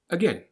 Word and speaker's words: again: About, around, again. The a sound that you read is actually pronounced as an sound, the schwa.